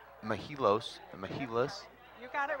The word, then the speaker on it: Mehilos: our first question is how do we actually pronounce mahilos you got it right you got it right